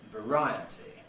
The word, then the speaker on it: variety: it gets the stress through the effect of the ity suffix T suffix what happens you get I for it variety spelling of course fluctuates